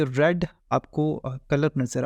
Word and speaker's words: a: इसको हम आ पढ़ेंगे, ए नहीं पढ़ेंगे, ठीक है, आ पढ़ेंगे।